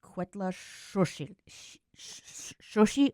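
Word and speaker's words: Cuetlaxochitl: Uh yeah, it's pronounced quetla shi or shushi. You sort of say the t but you can't hear it that much.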